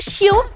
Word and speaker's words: chiot: C-H-I-O-T. Chiot. This one is the same whether the puppy is male or female, so it's easy. It's un chiot every time.